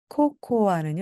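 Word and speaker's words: cocoa: 해주시기 바랍니다 로입니다 코코아는 영어로 코코 코코입니다 나나는 코코아로 마실래요 하면은요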